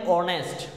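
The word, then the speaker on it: honest: আমরা হচ্ছে দেখি এন অনেস্ট অনেস্ট বয় এখানে দেখ এইচ এর উচ্চারণটা হয় না উচ্চারিত হয় না উচ্চারিত হয় না এটা উচ্চারিত থাকে এখানে অনেস্ট অনেস্ট উচ্চারণ হচ্ছে অনেস্ট এই দেখ বাংলাতে লেখলে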